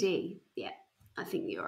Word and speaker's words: Tiede: And the reason is it's spelled Tiede. TD? Tiede? Radio. Tidy? Tidy. Tiede is the way I say it, but I've also heard it pronounced Tiede. So tedious. TD is what it should be.